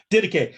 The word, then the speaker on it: Didache: I know Barnabas and the how do you pronounce it? Didache.